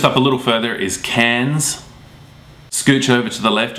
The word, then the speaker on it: Cairns: It's spelt Townsville, but the locals call it Townsville, so they don't pronounce the I in there. Just up a little further is Cairns.